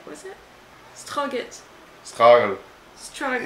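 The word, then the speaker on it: Strøget: Strogit, was it? Strogit. Struggle. Struggle. It is like struggle, but you were trying to swallow something at the same time.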